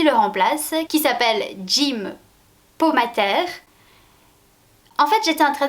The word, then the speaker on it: Pomatter: Donc, navré, ce sera donc prononcé à la française. Le docteur Jim Pomater est donc le remplaçant